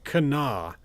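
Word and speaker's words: Kanawha: of locals saying this that this is apparently pronounced Kenna. And I don't know why they don't pronounce this Canawa, which is what I thought it was, but it's apparently Cana.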